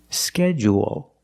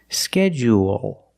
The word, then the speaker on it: schedule: One is longer, schedule, and it has an extra sound. It's not like pool and cool, it's schedule, o. There's an extra vowel there. Or you can make it short and say schedule, schedule. Also, we notice the DU making the J sound, like in juice and jump.